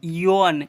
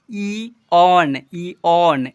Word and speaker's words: eon: EON इयोन, इयोन, इयोन नहीं, ईऑन, ऐसे पढ़ते हैं, ठीक है।